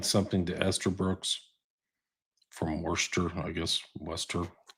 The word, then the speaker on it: Worcester: You could say worester. I got to get that. Yeah. Yeah. Yeah. Austin accent. I can't even glowester is how it's spelled but it's Worcester or No, that's Gla.